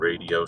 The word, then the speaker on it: Rdio: If they have any additional called radio scanners. It's spelled RDIO.